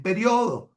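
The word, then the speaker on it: período: un libro en Venezuela, escribo periodo con acento en la, ¿verdad? Pero si yo soy español, que la pronuncian como una palabra llana, no le pongo acento porque es periodo, ¿verdad?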